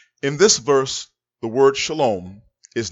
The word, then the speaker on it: shalom: pass on next word shalom shalom not shalawam this word is pronounced shalom if you say